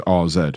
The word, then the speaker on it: AZ: before that game, and he was calling them the way they said it was RZ. Yeah. Right. So it sounds like an R. I was saying AZ previously, but having heard the